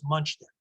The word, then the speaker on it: Muchnick: The general pronunciation was Muchnick. Muchnick. Okay. Just more the way it looks.